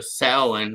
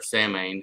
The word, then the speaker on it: Samhain: So when he goes to Samhain or Samhain, however you want to pronounce it, in the barony of Graynish, we're going to Gellir in a couple weeks.